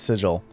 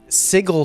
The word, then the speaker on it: sigil: should be GIF and it should be sigil yeah I think that's that's clear it's GIF and it's sigil uh sigle sounds too like it feels like you're you're swallowing something while you're saying the word it's like sigle you're trying to say something you don't want to it does yeah